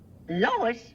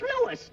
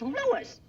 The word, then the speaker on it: Louis: Lois? Me name is Louis, not Lois. Gee whiz, everybody interpolates me name wrong. It's Louis.